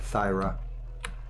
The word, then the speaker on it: Thyra: one that's our girl thyra thyra thyra that's how you pronounce that thyra and then her father